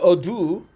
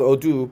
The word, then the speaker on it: ado: correct on the pronunciation I thought o do but since I'm not a uh native speaker I could be wrong a do a do yeah exactly yeah I'm very